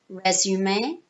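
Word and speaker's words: résumé: see where it says send resume it's a French word that's why we say it like that um so in British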